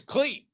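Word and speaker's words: Klete: His name is Cleet, as in Cletus.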